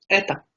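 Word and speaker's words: это: जैसे आप लोग यहाँ पे देख भी सकते हो कैसे लिखा जाता है इसको, एता, ए त ओ, एता। लेकिन इसको रीड हम लोग एता करेंगे, जैसे ई टी ए है।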